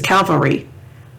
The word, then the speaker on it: cavalry: means is the calf it's a cavalry calvary is the hill that jesus was crucified on calvary cavalry or cavalry